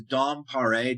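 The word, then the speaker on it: Paré: His name is Dom Pare, Dompare, with like a little accent on the E.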